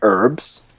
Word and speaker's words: herbs: In the US, Herbs and it's herblore. herbs.